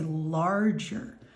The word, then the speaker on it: large: So L-O-R, even though it sounds like the letter R, when you actually hear that sound, it's spelled with A-R. So large. And now, even though that sounds like a J, it's actually a soft G.